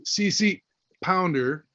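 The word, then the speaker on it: CCH Pounder: here's here's Jada and CC pounder is remember the H is silent um and she actually introduced herself to me that way I'm CC pounder that was really cool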